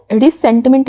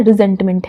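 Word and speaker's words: resentment: ठीक है, रिसेंटमेंट नहीं, इसे प्रोनाउंस करना है रिजेंटमेंट है और रिजेंटमेंट एक नाउन है, इसका पार्ट्स ऑफ स्पीच नाउन होता है।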